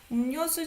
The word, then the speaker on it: 음료수: 그래, 나 음료수 좀 사 올게. 음료수. So beverage. You don't pronounce it as 음료, right? 음료수.